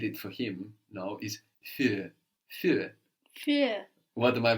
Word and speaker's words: für: it's the U with the umlaut, but the idea with the umlaut is that it adds a quality of an E, no?